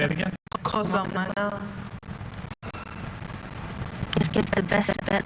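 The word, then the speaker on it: cocillana: Kosalana. Kosalana. Kosalena. Kosalena. Kosalana. Kosalana. Kosalena. You say it again? Kosalana.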